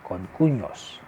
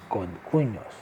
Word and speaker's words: concuños: And for the husbands of two sisters, we call them concuños. Concuños. The second N, concuños, has the wave on top of it, so it's pronounced as n, not n.